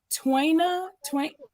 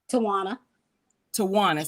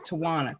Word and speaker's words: Tawana: And like I was just telling, is it Twaina? How do I say that? Tawana. So it's like no A in the middle, but you pronounce it as it's totally separate. So it's Tawana.